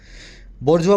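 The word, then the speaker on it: bourgeois: आर बोर जी ई आई एस अजीब सी spelling है French word है फ्रांसीसी क्रांति से निकला था शायद बजवा बोलते हैं मिडिल क्लास को वर्किंग क्लास को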